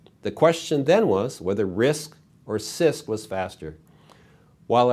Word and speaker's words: RISC: reduced instruction set computers abbreviated risc and pronounce risk think of complex instruction